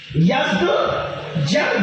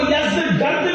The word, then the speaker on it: یزدگرد: اس کا بیٹا تھا جس کا نام تھا یزدجرد، اس کو یزدگرد بھی کہتے ہیں ایرانی لب و لہجے میں، عربی میں یزدجرد کہتے ہیں۔ ایرانیوں کی جنگ ہوئی